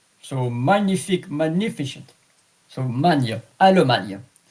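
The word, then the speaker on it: Allemagne: Almana. A L L E M A G N E. Alman.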